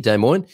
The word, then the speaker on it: Des Moines: Jason McCarter is here from Des Moines in Iowa. It's taken me 47 years to figure out how to pronounce that city, Des Moines.